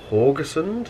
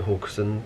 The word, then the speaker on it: Haugesund: and today we are at horgerson that's how we need to pronounce Hamilton the deputy Captain pronounce it hawkson so I don't know